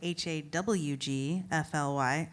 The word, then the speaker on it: Hawgfly: It's spelled Hawgfly. Hawgfly, like your redneck friend.